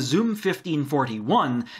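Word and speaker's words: xum1541: the other option was the zoom 1541 noting that it is spelled xum not with a zed i chose the zoom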